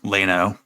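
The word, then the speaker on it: Llano: iyano County l-l-a-n-o but I assume it's probably pronounced like Lano um because that's everything the fouls shift upwards in Texas versions of Spanish words so basically what happened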